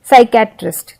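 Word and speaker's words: psychiatrist: जैसे कि arms balm P silent है इसमें साइके साइकेट्रिस्ट तो हमने पी तो लिखा है स्टार्टिंग में लेकिन हम पी को उच्चारण में नहीं ले रहे हैं हम एस से उच्चारण शुरू कर रहे हैं हम बोल रहे हैं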